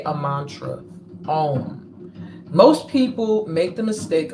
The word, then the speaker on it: Om: process I was saying to say a mantra om most people make the mistake of thinking that this Mantra is pronounced on a-u-m um um not um